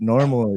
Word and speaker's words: NORML: Now, it's normal is short for National Organization for the Reform of Marijuana Laws. So it's spelled NORML.